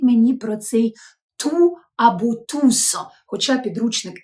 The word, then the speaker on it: tous: в французькій фразі то с в кінці слова вимовляється тусо тусо усі і давайте